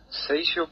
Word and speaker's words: Seixo: Seixo como Shakira, exactamente igual. Seixo como Shakira, como si fuera una SH.